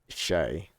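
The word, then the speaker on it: tjej: given up correcting them it's pronounced like Shay wait what Shay it's girl in Swedish ah right Shay Shay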